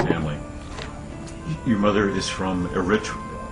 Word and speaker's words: Eritrea: your mother is from Eritrea Eritrea Eritrea is the correct pronunciation and uh it's a